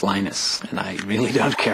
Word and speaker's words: Linus: lenus tals came along lenus or lonus what's the exact your preferred pronunciation um when I speak Swedish it's lenus when I speak Finnish it's lenus when I speak English it's Linus and I really don't